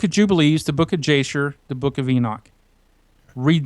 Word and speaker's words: Jasher: Now, some people say Yasher because J in Hebrew is not pronounced with the J, it's pronounced with the Yah. But I'm from Texas, I pronounce it Jasher.